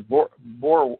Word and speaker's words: Boer: See, in other words, another interesting little study you can do is the Boer, how do you pronounce that? The Boer War?